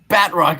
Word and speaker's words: Batroc: Batrock is how it should be pronounced.